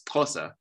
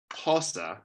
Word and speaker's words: Xhosa: to learn some Xhosa, she does not pronounce it as Xhosa. She restricts it, or she, reduces it, that's the word, to a different click. So instead of saying Xhosa with a lateral click, this person uses a